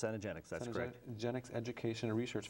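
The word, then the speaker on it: Cenegenics: Management medicine by the is that the cenogenics pronounced cenogenics that's corre genics education Research Foundation so once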